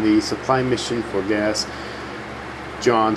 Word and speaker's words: Jean: John, sorry, pronounced the name wrong first.